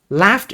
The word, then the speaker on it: laughed: So laughed is pronounced as T. because the last letter of the word is voiceless.